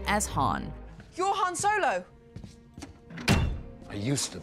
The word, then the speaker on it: Han: these years in the films most people correctly pronounce his name as Han Han Solo I used to be every once in a while however somebody will slip up and accidentally call him hand Lando in particular seems to prefer calling his